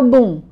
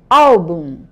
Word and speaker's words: álbum: As paroxítonas são palavrinhas que tem a penúltima sílaba mais forte. Deixa eu lembrar uma aqui só para não confundir vocês. Ã, deixa eu ver aqui. Bum. A sí mais forte não é o boom, é o álbum.